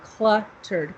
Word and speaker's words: cluttered: than it sounds, but in English we say the L sound, cluttered, cluh. Okay. You got it. So listen, cluh. Can you say it? Yeah. So it's kind of a tricky word. So you have to say cluttered.